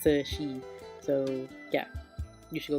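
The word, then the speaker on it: 慈禧: And her name is spelled in English Cixi, but in Chinese it's pronounced Cixi.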